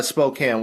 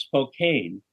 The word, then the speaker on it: Spokane: and our name was Spokane because we thought that's how you pronounced it and it sounded like cocaine.